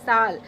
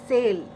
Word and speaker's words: sale: we are learning here next word is sal yes s c-s-a-l-e sal what is the word coming in your mind that is sale right as an english speaker but no sal first of all the